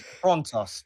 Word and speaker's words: Frontios: pronounce it thing again. It's Frontos, definitely Frontos.